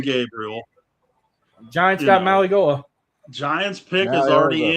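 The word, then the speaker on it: Mauigoa: And by the way, I got the proper pronunciation too, believe it or not. Malagoa.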